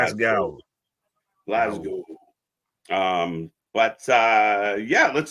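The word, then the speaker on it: Glasgow: it's not it's not glass cow it's not glass cow it's glow Glo um but uh yeah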